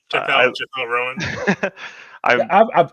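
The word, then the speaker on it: Chappell Roan: Chappelle Rowan. I pronounce it like that, Chappelle Rowan.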